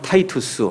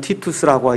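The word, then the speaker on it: Titus: 그 30년 이후에 40년이 지나서 AD 70년에 로마 장군 우리가 이제 보통 디도라고 얘기해요. 우리가 디도에이 영어 그냥 발음으로 얘기하면 타이투스 아니면 티투스라고 얘기하는 그 장군이 들어와서 예루살렘 성을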